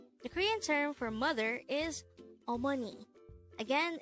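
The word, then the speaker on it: 어머니: term for mother is Omani again it's Omani this is pronounced the three syllable word the first syllable is ah second syllable is Mo and the third syllable is knee pronounce it with me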